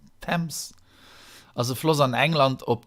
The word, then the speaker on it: Thames: London als Hauptstadt von Großbritannien, allein ob der Themse, oder wie geht das am Englischen ausgesprochen? Thames.